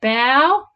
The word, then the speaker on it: bow: Okay, the bow, which rhymes with now, was the front of the ship.